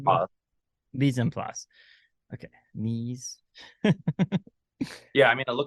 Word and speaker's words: mise en place: Mise en place.